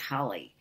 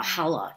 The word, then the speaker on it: challah: She actually was self-taught, and we had wonderful food in the house, wonderful wonderful baking going on, homemade challah, or challah, as some people pronounce it, and chopped liver, chopped herring.